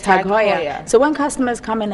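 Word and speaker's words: TAG Heuer: our in French but it was actually by a German man Haya so it's tagya so when customers come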